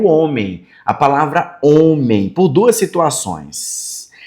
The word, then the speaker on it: homem: o homem, a palavra homem, por duas situações. Primeiro, pelo H, que ele é mudo. Nós chamamos ele de mudo porque ele não pronuncia nenhum som, ele é só um acompanhante.